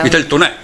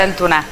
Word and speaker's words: vitel tunè: Vitel tunè. Esatto. Come si pronuncia in piemontese? Vitel tunè. Tunè. Beh, vitel tunè.